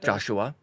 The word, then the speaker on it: Joshua: with my wife yesterday a name that looks like it should be two syllables but it's three it sneaks one in there you know Joshua mhm carpo Gaming's on